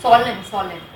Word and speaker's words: solemn: Solemn वो N pronounce silent.